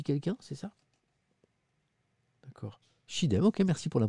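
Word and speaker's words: Çiğdem: Ça se dit Chidem, me dit quelqu'un, c'est ça? D'accord. Chidem, ok, merci pour la prononciation.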